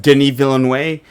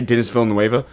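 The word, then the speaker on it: Denis Villeneuve: I was like, man, cuz I I see a interview with Denny Villain Way, which is actually how you say his name. I used to say Dennis Vill Noea because I've been watching like Denny Vill.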